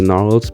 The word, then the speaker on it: Gnarls: the Dromedary, Noah and Nathan the Gnarls because the G is silent, Catalina the Candelabra, Terrence the Tusky.